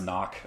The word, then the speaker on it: Nauk: It's pronounced knock. Okay, yeah, that's what I thought. But knock. So we have knock for short for nocturnal, and we have knock like N-A-U-K.